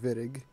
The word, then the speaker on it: Wittig: reaction it's called the wittig reaction this was developed by george wittig he was a german chemist and that's why it's pronounced with a v instead of a w and what this reaction